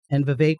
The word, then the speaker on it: Vivek: And then there's Elon Musk and Vivek rhymes with cake doing their Dogecoin, government.